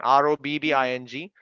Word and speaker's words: robbing: siren wait okay listen listen the first one r o b b i n g is pronounced as robbing or sound o or can